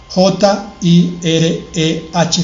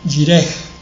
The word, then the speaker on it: Jireh: Se escribe, ya dijimos ayer, YHWH, espacio, JIREH final, Jireh. Esa H suena como una J no muy fuerte, Jireh.